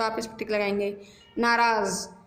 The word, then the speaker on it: नाराज़: नाराज़, इसमें Z sound में आ रहा है, नीचे बिंदी लगी है तो ये भी स्पेलिंग ठीक है, आप इसमें टिक लगाएंगे।